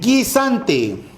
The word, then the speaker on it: guisante: y acá en la siguiente guisante encontramos dos vocales pero sólo se pronuncia a la y por lo tanto nos